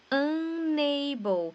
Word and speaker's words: unable: E o nosso famoso LE aqui no final das palavras, que tem som que tem som do OU em português. Então fica unable. Essa palavra é legal porque ela tem as duas pronúncias, né? Tem o U, esse U aqui com som de né? Igual eu falei ali em cima. E o LE com som de OU.